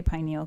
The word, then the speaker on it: pineal: I might say pineal gland. Sometimes I get it confused. It's pronounced pineal, but I like to say pineal.